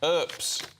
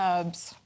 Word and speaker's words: Earps: When I met those girls in the girls' football team, they didn't know how to say her name, and they were calling her Herbs.